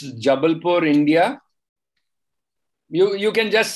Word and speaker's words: Jabalpur: How do you pronounce that place? Can you be there? So it's Jabalpur, India.